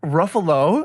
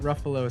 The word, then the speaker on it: Ruffalo: were talking about mark ruffalo ray pronounced it ruffalo yeah yeah but he also recorrected himself and said ruffle yeah right after we